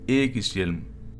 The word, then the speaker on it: Ægishjálmr: I'm also going to pronounce the Helm of Or as we do in Danish, which is Ægishjelm.